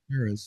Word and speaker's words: Chaires: You've been listening to the Dave Emmons Strange Reality Show, and Sherris. Am I saying that right? That's French. Yep. Sherris, okay.